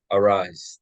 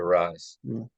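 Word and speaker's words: Arraez: this guy's name right how do you pronounce it Lewis or Luis rise arise thank you arise so he's sitting two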